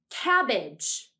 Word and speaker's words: cabbage: AG in this word did you notice which syllable we said most loudly or most strongly listen to the word again cabbage cabbage the syllable that we say more most strongly is the first syllable that's because AG g e is usually unaccented in a word so we say it more quietly than the other syllables cabbage cabbage is a